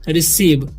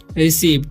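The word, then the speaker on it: receive: जैसा कि मैंने कहा सी के बाद अगर ई आई और वाई आए तो सी का उच्चारण स होगा ठीक है सी के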